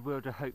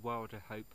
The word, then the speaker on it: Wilderhope: she sort of said some people Wilderhope, others Wilderhope. She said most of the locals call it Wilderhope. Seems more natural to me. I find that easier to pronounce, so it's Wilderhope as far as I'm concerned.